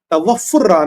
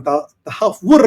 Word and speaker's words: Tahawwur: जब से राणा ये तवफुर तवुर राणा गिरफ्तार हुआ है तवुर आपु प्रोनाउंसिएशन ठीक नहीं है हमको आप कैसे कश्मीरी